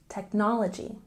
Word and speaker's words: technology: at pronunciation with a stress on the second syllable in technology technology and let's look over